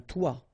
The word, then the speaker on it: toit: Okay, and then both of them are pronounced like toi.